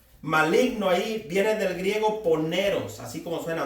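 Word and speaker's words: πονηρός: maligno esa palabra maligno ahí viene del griego poneros así como suena d dice que han vencido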